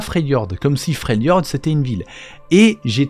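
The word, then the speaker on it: Freljord: et c'est pas normal la prononciation normalement c'est frelord c'est pas fr Jord ça fait bizarre pour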